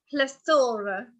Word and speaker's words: plethora: I'm going to pronounce it correctly before he says it. And the word is plethora. Okay, so I'll say it again. Plethora.